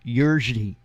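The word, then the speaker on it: Jiří: I don't know if it's the actual spelling, but it's Jiri, and it's pronounced something like Yurji. And I can't quite do the click with my tongue because I'm just not acclimated that way.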